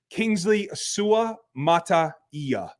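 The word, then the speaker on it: Kingsley Suamataia: have blown a few me too but folks Kingsley sua mataia is the way that you pronounce his name I'll lock that in now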